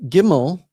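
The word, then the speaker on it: ג: And now with Gimel, it has the same thing, but in modern pronunciations, we don't really differentiate between them. But it does have here the way they believe it was pronounced in earlier times. G is, with the dagesh lene, it's G as in God, and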